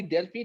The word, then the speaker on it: Delphi: नहीं रहा रिटर्न है तो प्रोनाउंस डेल्फी होता है वैसे एफ के साथ ठीक है जी तो